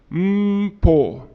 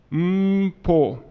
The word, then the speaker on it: Mpho: everybody repeat after me say like you're humming mmm mmm pol mmm pull the Reverend cannon in